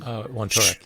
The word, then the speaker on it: Wontorek: You were being interviewed by Paul Wontorek, I believe is his pronunciation. Wontorek, yeah.